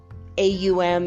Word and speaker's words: Om: Some people say AUM instead of OM. Some people say HUM, like hum. Om Mani Padme Hum. You know, that's just another pronunciation of the same thing.